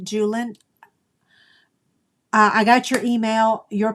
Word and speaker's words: Julen: Is it Julaine or Julin? Julin?